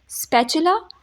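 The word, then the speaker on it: spatula: स्पैचुला, यहाँ पे आपने टी की साउंड नहीं देनी, आपने च की साउंड देनी है, स्पैचुला, ठीक है।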